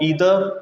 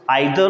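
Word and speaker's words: either: यूज़ ऑफ ईदर और नीदर, इसको pronounce आइदर और नाइदर भी किया जाता है और ईदर और नीदर भी किया जाता है। ठीक है, दोनों प्रोनाउंसिएशन ठीक है, चाहे आप आइदर बोलें, चाहे नाइदर बोलें, चाहे आप ईदर बोलें और चाहे नीदर बोलें। ये दो कंट्रीज़ के बीच का फ़र्क है।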